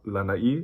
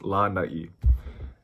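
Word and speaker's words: lānai: It's always going to be over a vowel, and it's to elongate it. So that's why it's not lanai, it's lanai.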